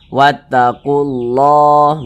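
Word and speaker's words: وَاتَّقُوا اللّٰهَ: Karena cara membaca huruf lamnya ini dia dibaca idgham. Jadi huruf lamnya ini tidak ada tanda bacanya kan? Dia langsung masuk ke huruf setelahnya ini. Nah, langsung masuk ke huruf yang setelahnya nih. Nah, ini huruf alif, ini huruf lam. Nah, ini langsung masuk ke huruf lam yang ini nih, yang ada tanda bacanya nih. Wattaqullah, begitu.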